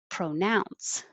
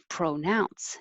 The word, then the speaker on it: pronounce: 22 is pronounce, dun dun, pronounce, and it can be pro or pra because it's not stressed, but now, nounce is the stressed syllable, pronounce.